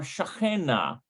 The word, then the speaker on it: שכן: Shachen or shachena is neighbor. I'm pretty sure that's how you pronounce it, shachen.